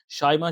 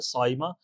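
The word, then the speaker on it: صائمہ: बहुत से लोग इसको शाइमा शाइमा बोलते हैं, तो शाइमा नहीं है बल्कि साइमा, साद से है ये।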